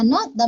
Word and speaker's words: निंदा: तो यहाँ पे न में छोटी की मात्रा नी, आधा न, द में आ की मात्रा दा, निंदा, है ना।